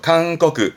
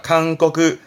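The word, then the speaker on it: 勧告: 칸꺼그 이 고자 발음은 음독이 코크예요. 잊지 마세요. 그래서 권고하다 칸꺼그 음독은 이 정도고요.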